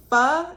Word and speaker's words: Pho: Pho yeah no it's it's spelled like faux but it's pronounced fur yeah I ain't never know that yes girl it's fun so she was like oh you want fur and I was like